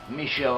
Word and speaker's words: Michal: He went home, he told Michal, and Michal, his wife, Michelle I suppose is one way of pronouncing it in English, Michal let him down